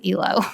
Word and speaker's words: Eloge: Also, side note, until today, we did not know her last name was Eloge. Macy and I were pronouncing it incorrectly.